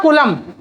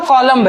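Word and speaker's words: Coulomb: Charge के scientist का नाम था कूलम। चार्ज को ढूंढने वाले साइंटिस्ट का क्या नाम था, एक्चुअली इसका प्रोनाउंसिएशन तो कॉलम है, प्रोनाउंसिएशन क्या है, कॉलम, पर इसको बोलते कूलम है, ठीक है।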